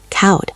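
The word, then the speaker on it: koud: "Yes, cowed," Elara agreed. The OU sounded just like the O in coat.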